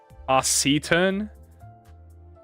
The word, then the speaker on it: taciturn: Taciturn. It's an A. It's a. But why doesn't it have an S there if it meant? Doesn't know English, bro. Who pronounces a C like an S, bro?